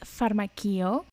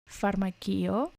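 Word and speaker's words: φαρμακείο: ask for a pharmacy the word is pharmako pharmako but if you want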